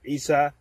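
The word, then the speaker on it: عيسى: Point number four is Christians believe Jesus, peace be upon him, Isa alayhi salam, his name is pronounced in Arabic.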